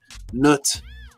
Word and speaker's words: Nut: The way you pronounce it is Nut, or Nu, or Nut.